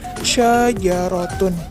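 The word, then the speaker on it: شجرة: Jadi dibacanya syajarotun.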